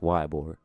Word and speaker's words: Ybor: I say it like Ebor because I'm from up north, but I know it's pronounced Ybor.